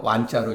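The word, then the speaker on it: 關: 월나라 사람이 요 관원이라고 읽으면 안 돼요. 완자로 읽어야 돼요. 완.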